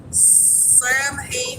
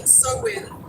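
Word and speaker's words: Samhain: Sam Hain Sowin says, William Welch, yeah. Sowin's going to be the correct pronunciation of it.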